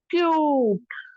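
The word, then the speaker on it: cute: अब इसी के आगे मैं अगर ई लगा दूं तो ये साइलेंट में जाएगी और यू को लंबा कर देगी, कैसे, क्यूट, क्यूट, है ना।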